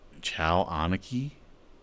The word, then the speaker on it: Cho Aniki: So how do you even pronounce that? Chow Aniki?